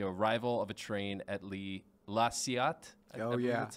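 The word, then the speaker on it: La Ciotat: It is The Arrival of a Train at La Ciat. That's how you pronounce it.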